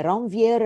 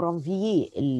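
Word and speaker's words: Ranvier: الكلمات الفرنش الار في النهايه بعد الفاول ما بتتنطقش، فعشان كده انا قلت رانفييه.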